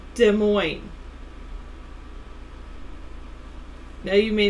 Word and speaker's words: Des Moines: Des Moines? Am I pronouncing it correctly? Des Moines. That's how it was. That's how I've always pronounced it.